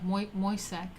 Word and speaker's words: Moissac: It's like moist, yeah. Moissac. Okay. Sure. Moissac.